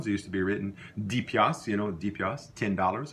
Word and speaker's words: piastre: Okay, let's go on to the word piastre, piastre, the way it's written, but we don't pronounce the R-E.